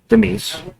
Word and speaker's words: Mies: found out about the Mies. Yeah, Right? It's pronounced mice, but no The big Mies.